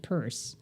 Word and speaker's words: Peirce: And it's spelled like Pierce, but he pronounced it Peirce.